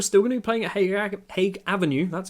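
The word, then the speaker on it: Haig Avenue: i guess we're still gonna be playing at hague avenue that's how it's said for the foreseeable future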